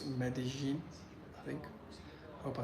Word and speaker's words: Medellín: how they pronounced Med medene is very unique yeah so apparently Double L in Spanish here it's a j sound so it's medin I think hope I